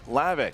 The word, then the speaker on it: Hlavac: Just don't say the H.